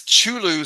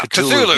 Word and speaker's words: Cthulhu: That's Chulu spelled backwards. Chulu from Lovecraft stories. Yeah. Cthulhu? Yeah, Cthulhu.